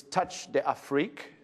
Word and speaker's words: Touch d'Afrique: It's Touch d'Afrique. That's the correct way of pronouncing the store, which is French for Touch of Africa.